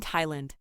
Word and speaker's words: Thailand: we take a breather there are some words where the th is not pronounced in other words the th is just pronounced as T can you think of